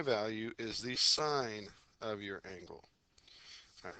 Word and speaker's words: sine: All right, sign on the calculator it's sin n. I still want you to pronounce it sign. I don't want you to say sin.